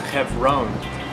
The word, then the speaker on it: Hebron: In Hebrew it's pronounced Hebron.